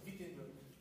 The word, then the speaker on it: Wittenberg: Así lo decimos con V o V y no de W, aunque se escribe con W, es que en alemán se pronuncia con V, aunque dice Wittenberg, es Wittenberg. Igual cuando decimos, bueno, Worms es Worms. Por eso busco pues, pronunciarlo bien. Aunque no hablo alemán, pues así se dice.